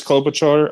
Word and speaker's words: Klobuchar: It's Klobuchar.